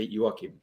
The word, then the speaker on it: Joaquin: jack how are you joaquin am i saying your name right yeah it's perfect uh it's actually hebrews i have no idea how they say it i just say you walk him but yeah anything goes